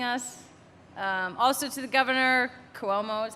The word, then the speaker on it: Cuomo: Also to the governor, Cuomo is how I think you pronounce it, right?